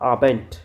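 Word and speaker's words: Abend: Next आता है पीएम यानी कि आम आबेंड। देखो लास्ट में डी नजर आ रहा है तो आप इसको ट यानी कि टी प्रोनाउंस करेंगे। आम आबेंट नेक्स्ट है ओलॉक।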